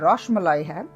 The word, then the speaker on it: rasmalai: was telling you that our Bengali friends say that this is not rasmalai it is roshmalai they pronounce it differently they say that there